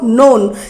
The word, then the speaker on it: known: Second form नोन, KNOWN नोन। Third form इसका pronunciation no, कई बच्चे करते हैं क नो, नहीं रॉन्ग है, बिकॉज इसमें के साइलेंट है।